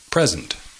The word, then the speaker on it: present: present significa regalo present the emphasis is on the first syllable present present i present you with the present the present tense can present a problem present is the noun present is the verb sustantivos converts parasitos casos